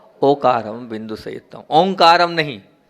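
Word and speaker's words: ओंकारं: है वो ओ बिंदु से संयुक्त है वो ओंकार नहीं है ओ का है और आप लोग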